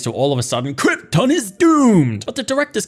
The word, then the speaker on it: Krypton: that we're introduced to brando's pronunciation of krypton and i hate it it's krypton marlon not krypton or whatever the heck you're coming up with anyways zodness cronies get